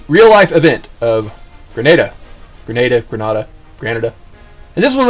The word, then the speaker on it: Grenada: on alert everybody's deploying for the uh the grenada incident so you know the uh the party time is cut short granada happens grenada granada potato potato whatever the real life event of grenada grenada granada canada and this was an actual event